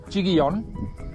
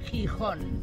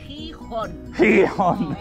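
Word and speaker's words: Gijón: Chiguillon. How do you say it? Chihon. Chihon. Chihon. I've been calling it Chiguillon. I know, fool. Hee-hon.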